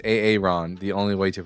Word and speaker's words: Aaron: Hey, it's Aaron, the only way to pronounce it.